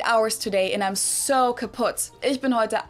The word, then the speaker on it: kaputt: We spell it with two T's in Germany, but we pronounce it the same way, kaputt.